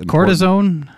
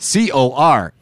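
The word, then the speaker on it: Corazón: the corazon i think is the probably the cortisone made by the cortisol see now you actually absolutely messed it up now nobody will know what it is well yeah that's why you have to spell it c-o-r-a-z-o-n corazon and this is the part i'm trying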